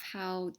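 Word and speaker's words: 你好: have some very quick a brief kickstart of how to greet in mandarins you see how and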